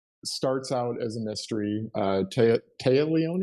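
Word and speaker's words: Téa Leoni: Taya Leone, is that how you say her name? Taya? Yeah, Taya Leone.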